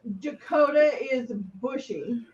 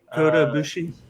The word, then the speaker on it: Kota Ibushi: Dakota is bushy. Kota Ibushi.